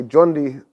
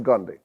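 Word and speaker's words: Gondishapur: called by the Persians the Persians today by the way say jundi because they've taken the Arabic pronunciation but the original was Gandhi um so at gandi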